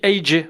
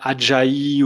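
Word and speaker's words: Ajay: toi tu es belge on dit AJ c'est à l'américaine.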